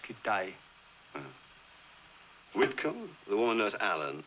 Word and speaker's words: Kitaj: Kitaj. No, it's pronounced Kitai.